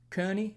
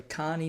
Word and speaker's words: Kearney: watertown wisconsin lisbon north dakota mitchell south dakota kearney sorry carney nebraska i learned how to pronounce that just the other day gallup new